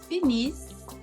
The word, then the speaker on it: finissent: Il, elle, finissent. E o NT eu não pronunciei. Lembra, desde do primeiro grupo, o NT nunca pronunciei.